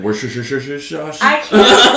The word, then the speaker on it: Worcestershire: Is that what is it like Worcestershire sauce? I can't say that word. Worcestershire sauce. I literally can't. Every time I say that word, it becomes something new. It's different every time. Wash your sister sauce.